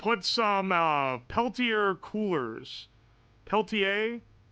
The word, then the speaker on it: Peltier: Peltier. Someone said the R is silent.